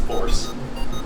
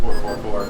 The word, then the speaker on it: 444: Actually, the way that song is intended to be pronounced is force, not 444, but I think everyone just says 444.